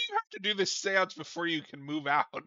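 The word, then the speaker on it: séance: Yeah, like why do you have to do this seance before you can move out? Like Also, kid, you're saying it wrong. It's seance. he's like 2.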